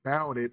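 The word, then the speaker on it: Bout It: It is because of grammling that I learned that bouted rhymes with rowdy.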